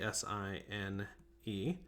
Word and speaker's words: sin: it out is actually si n e so even though it's spelled sin it's pronounced sine if that makes sense